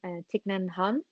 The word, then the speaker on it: Thich Nhat Hanh: bodies, but actually there's this great meditation from Thich Nhat Hanh, I think that was Mhm. that's how you pronounce it.